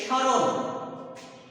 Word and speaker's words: স্মরণ: ফল র ন স্মরণ এই স্মরণ শব্দটিতে আমরা দেখতে পাচ্ছি শব্দের প্রথমেই ব্যঞ্জন বর্ণের সাথে ম ফলা আছে এই ম ফলাটি উচ্চারিত হবে না এখানে আমরা লিখতে পারি স্মরণ স শুধুমাত্র মহলা যে বর্ণটির সাথে যুক্ত আছে ওই বর্ণটির উপর একটা চন্দ্রবিন্দু বসবে কোন শব্দের মধ্যে কোন